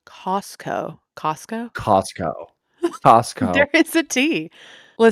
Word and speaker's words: Costco: Costco. That's crazy that you pronounce it You like mean that.